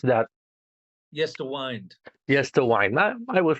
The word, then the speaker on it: Yesterwynde: Yesterwynde, how I pronounce that? Yesterwynde.